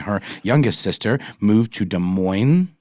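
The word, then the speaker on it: Des Moines: youngest sister moved to De MO is it is you just pronounce the S I say De Moine De Moine I'm going to go with de Mo Iowa um and that's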